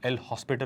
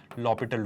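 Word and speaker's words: L'Hôpital: अब सर ये लॉपिटल क्या होता है, generally people pronounce it एज एल हॉस्पिटल rule, but इट is actually लॉपिटल rule. लॉपिटल का मतलब है एच बेसिकली साइलेंट होता है, और लॉपिटल रूल कब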